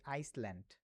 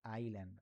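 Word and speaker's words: island: এটাকে আমরা অনেকে পড়ি কি জানেন? আমরা পড়ি আইসল্যান্ড নট আইসল্যান্ড because here is S silent এখানে কি এসটা সাইলেন্ট থাকবে আচ্ছা এটা আইসল্যান্ড বলব না হ্যাঁ ভুলেও আইসল্যান্ড বলব না এটাকে আমরা বলব হল আইল্যান্ড হায়রে মুছে দিলাম আইল্যান্ড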